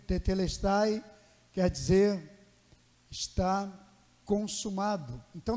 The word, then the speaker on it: tetelestai: o TP le Style é uma pronúncia diferente não é línguas estranhas e saem grego tetelestai quer dizer Está Consumado